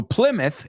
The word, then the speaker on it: Plymouth: Plymouth pouth Plymouth right so Plymouth is a myth so Sir Francis Drake